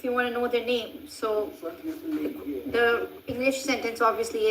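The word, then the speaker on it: نام: Nam translates to name and it's quite uh easy to remember because nam and name just you know u you're just pronouncing the vowel differently and a in udu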